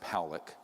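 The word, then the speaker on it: Pawelec: thousand views this man william pollock is pronounced pollock was a man very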